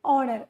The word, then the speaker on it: honor: that okay the first letter of the word honor for example is a consonant horor h o n o r hor honor we pronoun pronounces it pronounce it as honor okay all